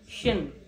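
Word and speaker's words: сен: তুমিটা হবে হচ্ছে শেন, SHEN, শিন, শেন।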